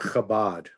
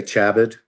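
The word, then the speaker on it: Chabad: I would say the organization called Kabad, right? C H A B- A D. Some people say Chabed because, you know, they don't know how to pronounce it.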